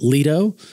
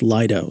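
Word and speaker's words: Lido: Sarasota for so long I kept pronouncing it Leto because of Leto key apparently it's Lio so if I mispronounce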